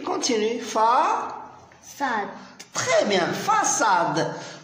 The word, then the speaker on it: façade: Très bien, façade. Donc, puisqu'il y a la CD, on ne prononce pas K, on prononce ça.